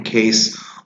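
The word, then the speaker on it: Cayce: Cass Pollard, a 32-year-old woman who lives in New York City, she pronounces her given name Case.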